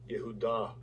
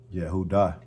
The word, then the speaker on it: Yehudah: them saying Judah let me see how they pronounce it strongs H 363 Yehudah Yehudah Yehudah and you know you know the characters of pale Hebrew is not like this.